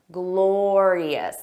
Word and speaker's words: glorious: Notice that pronunciation, glorious. There are three sounds, glorious, glorious.